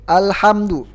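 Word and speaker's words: الحمد: Ingat lam bukan huruf qalqalah. Jadi jangan dibaca al, jangan dipantulkan al, tapi ditahan. Mim juga jangan dipantulkan. Jangan itu kurang pas. Lam sama mim bukan huruf qalqalah, jadi jangan dipantulkan.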